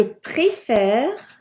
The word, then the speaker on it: préfère: Je préfère, je préfère. Notice how there's an accent on the first E. It just changes the sound, so it goes E, going up, and down is air.